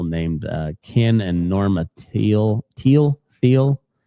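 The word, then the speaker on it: Thiel: uh Ken and Norma Teal. Teal Teal. T H I E L. Um, I know Peter Teal, the investor, tech guy, it's pronounced teal, spelled the same way.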